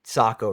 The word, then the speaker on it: Sako: And I'm pronouncing Sako right. Is that right, Jared? Yeah, they say uh um yeah, Sako makes rifles. Uh Seikko makes watches.